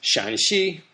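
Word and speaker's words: Shaanxi: first tone first tone and the other ones pronounce Shan Shi third tone Shan and then the same exact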